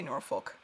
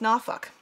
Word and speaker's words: Norfolk: So, okay, so you do say Norfolk. Okay. See, in Virginia, it's Norfolk. And I swear I did not just swear. That's just, that's how it's pronounced.